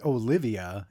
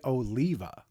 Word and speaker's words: Oliva: at Ohio Street beach except it's not Cafe Olivia it's Cafe Oliva so forgive my multiple